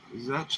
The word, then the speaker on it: Zetch: Zetch likes sketch, dude. I go by Zetch because it rhymes with sketch.